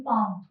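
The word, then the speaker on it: palm: प्रश्न बघूया काय दिलेला आहेव्हिच letter silent in पाम लेटरव्हिच letter silent in पाम तर पाम हा जो ही जी स्पेलिंग आहे काय दिसते पाम प एल ए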